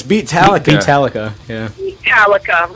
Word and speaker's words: Beatallica: It's Beatallica.